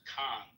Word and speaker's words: Cannes: It's pronounced Cannes. Okay, Cannes. Monty Cannes.